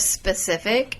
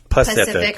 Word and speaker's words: specific: Oh, instead of specific, it's Pacific, like you're going in the ocean.